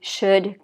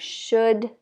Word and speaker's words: should: sure you know already should could would so there's no L pronounced at all this vowel u sounds like u so we have should could would just forget